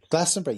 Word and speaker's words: Glastonbury: Am I pronouncing it right? Glastonbury, am I right? Glastonbury, yeah, very much.